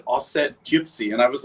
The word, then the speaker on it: Auset: She's like, so I looked up a bunch of different versions of it, and the Egyptian pronunciation is Auset.